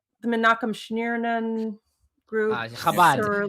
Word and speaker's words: Schneerson: I can't pronounce his last name. I'm sorry. Schneerson. You can say Schneerson or you can say Schneerson, if that's easier.